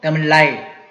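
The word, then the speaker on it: ដំឡៃ: 여기에 보시면은 쓰라아이 하면은 단음이죠. 그러니까 더물라이 하지 않고 더물라이 이렇게 발음해 주시면 좋겠습니다.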